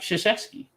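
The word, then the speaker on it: Krzyzewski: schuszewski i was glad i actually just said his name right because i wasn't sure how it's been pronounced and i've been able to get it right all this time but you look at his last name you're like how do you get that pronunciation but that's that's what it is but we call him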